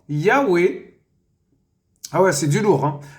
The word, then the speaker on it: Yahwé: nom précieux le tétragram Yahwé en hébreu voilà vous voyez se prononce s Yahoué ah ouais c'est du